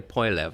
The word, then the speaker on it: Poilievre: that even the leader of I can never pronounce his last name, Pierre Poilievre, I think is how he pronounces it.